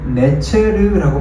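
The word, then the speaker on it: נֵצֶר: 한 싹 싹이라는이 말은 히브리어로 네체르라고 발음이 됩니다. 네체르. 내체르라고 발음되는이 단어가 신약 시대에 와서 비슷한 발음이 불리는 것이 있었는데 그것이 바로 나사렛입니다.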